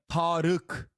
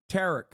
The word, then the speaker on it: Tarık: Like Tarık is how you say Tarık's name, but in English there is no letter for it, so they say Tariq.